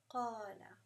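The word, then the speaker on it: قال: And same with qala. We know that qala has the inherent mad there. It has the mad where we pronounce it qala with a 2 times the pull, right?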